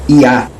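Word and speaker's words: יה: O Yod-He é que se lê Yah, não é primeira sílaba.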